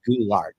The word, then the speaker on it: Gillard: that's all right okay it is actually gou art have to think of like goul art gou artart gou art